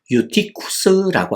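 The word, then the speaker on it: Εὔτυχος: 그리고이 유두고라고 하는 이름도 보면요.이 이름을 헬라어로 발음을 하면 유티쿠스라고 하는 발음이 됩니다.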